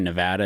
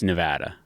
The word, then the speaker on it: Nevada: Everyone who lives there calls it Nevada. What do I say? Nevada. Nevada. I think I said Nevada. Yeah, it's incorrect. Las Vegas, Nevada. I don't know what I say. Yeah. I have to be alone without you influencing me. So remember when you think about it next time, they'll call it Nevada.